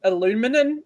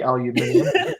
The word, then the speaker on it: aluminium: I can only say aluminium though to be fair alumin aluminum I can't see aluminium aluminium has the extra eye in it so you should say aluminium way it's spelled so we we just